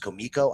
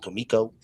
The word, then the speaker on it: Comico: And yes, ladies and gentlemen, it is pronounced Comico.